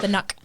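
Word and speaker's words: Nøkk: N-O-K-K is how it's spelled, the Nook.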